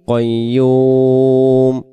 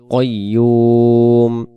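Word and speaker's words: قيوم: আল হাইয়ুল কাইয়ুম আল হাইউল কাইম কাইয়ুম উচ্চারণ হবে না।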